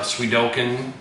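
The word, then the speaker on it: Suikoden: was able to get uh once again pronounced pronunciations weird uh swedokin that's how it's supposed to be pronounced we're talking to Sudoku uh Strider to um ogre bad Channel anyways swedokin 2 was one of the main things try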